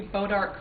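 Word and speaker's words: Bois d'Arc: We have water rights to the creek that runs along the west side of our property, Bodart Creek. That's spelled B-O-I-S-D''ARC. And in 2007, when TransCanada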